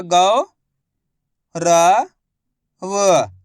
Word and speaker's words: गौरव: देखो किस तरीके से, गा में उ की मात्रा गौ, र व, तो मिलके बन जाएगा गौरव।